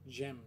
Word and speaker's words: dżem: Okay, and the last digraph is the combination of D and the letter Z, and you should pronounce it as dż. Dż. Dżem. Like dżem.